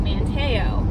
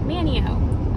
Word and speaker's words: Manteo: you're in manchester manteo manteo manio us locals call it manio not manteo that was that was the name of the guy um but the town is pronounced manio also it's kerala not